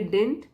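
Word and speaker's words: didn't: lieutenants advice डिंट matter तो जब यह कांट्रैक्टेड फॉर्म में हम पढ़ते हैं तो बोलेंगे डिंट सेकंड वाला डी साइलेंट हो जाता है उसको खोल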